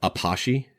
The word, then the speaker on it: apache: called a it's built it's spelled like we would spell the word apache but it's actually called an apache dance apache i believe is a it's kind of it's based on a french word from the underworld but